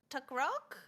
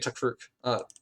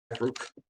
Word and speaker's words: Takruk: You do the Tuck Rock? Is that how you say it? It's supposed to be Takruk. So I'll just quickly change that. Takruk.